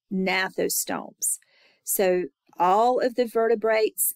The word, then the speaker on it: gnathostomes: That G is silent, gnathostomes.